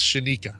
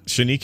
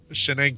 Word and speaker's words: Shenika: station was missing bacon that's pronounced Shenika Shenika is it what did I say shanena shanena there's no other n in there is what you're telling